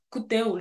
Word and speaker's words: Akuteu: à coup Tho coup même que ça se prononce coupo genre le a l'entend que ok parfait donc